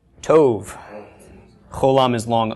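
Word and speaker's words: טוב: by a bait with no doggish have we pronounce this the tape makes sound of T right Tove Coulomb is long o Tove yes toad means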